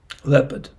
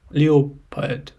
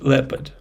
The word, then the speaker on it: leopard: and from Asia but the interesting thing that you don't pronounce o so not Le Leo pad bad like with Leo but just leopard leopard why we use